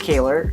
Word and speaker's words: Kaler: before my name is Kaler it's pronounced Taylor but like with the K and whenever I introduce